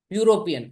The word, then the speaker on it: European: do you pronounce European it's starting with the letter E but like eagle you're not saying E you are saying you European answer is a European